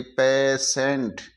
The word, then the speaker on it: पेशेंट: facial इसी तरीके से जब टी के बाद में आई आए तो टी को श पढ़ते हैं जैसे पी ए टी आई एन टी तो टी आई एन टी टी आई आ रहा है तो टी को श पढ़ेंगे पेशेंट पेशेंट इसी तरह क्य यू